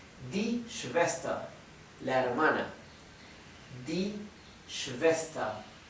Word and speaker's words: Schwester: Die Schwester. Recuerden otra vez, ER al final se pronuncia con A y la R final es casi imperceptible.